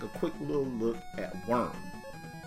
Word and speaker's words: Wurm: quick little look at worm spelled with a u Journey to the Center